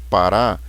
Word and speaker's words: parar: Por exemplo, na palavra parar, a sílaba forte é a última. Então, em parar, a sílaba tônica ou sílaba forte é o rá, parar. Então, aqui nós temos uma palavra oxítona.